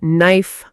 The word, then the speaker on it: knife: Yes, in a way we write the K but we don't pronounce it.